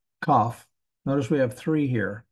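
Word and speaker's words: כ: Kaf. Notice we have three here. We've got one with a dagesh. When you have that, it sounds like a K.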